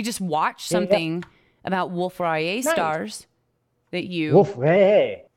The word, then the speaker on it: Rayet: I said it right. Français, s'il vous plaît. I know, but see, people say... I was watching some guy actually say it completely wrong. I think he said Rayer.